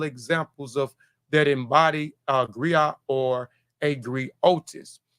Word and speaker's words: griot: unique to Western a West West Africa the gri or jali is a professional Encompass many R the gri pronounced Grio has been refused as a historian